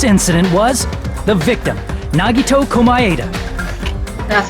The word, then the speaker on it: Komaeda: The person who actually arranged this incident was the victim, Nagito Komaeda. That's how you pronounce his last name.